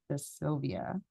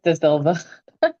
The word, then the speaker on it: De Silva: And the first one up is De Silvia. And correct me if I get the last name wrong, but I think I got it right. You're good. It's De Silva.